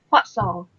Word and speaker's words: fossil: This is not O, but it is fossil.